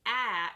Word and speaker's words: Ä: When you are pronouncing ä, your tongue goes backward. So you pronounce ä like you would pronounce ma'am or aunt or damn.